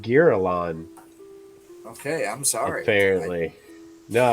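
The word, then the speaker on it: Girallon: It's pronounced Girolon, Okay, I'm sorry.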